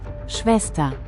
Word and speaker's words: Schwester: Spanish, hermana, and German, Schwester, Schwester. now this word is spelled, but the sound is Svester, and if you look